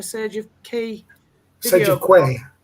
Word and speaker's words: Quay: There is a couple interviewed by Maria Z, found on the Sage of Key Sage of Quay. Quay, is it? Well, I pronounce that Key, but Quay.